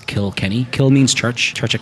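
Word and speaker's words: Kilkenny: kokanee and a Josie mad - because it's kill Kenny kill means Church charge of Kenny oh you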